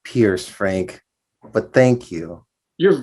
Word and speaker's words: Pierce: our expert is and am i pronouncing that correctly it's actually pronounced pierce frank but thank you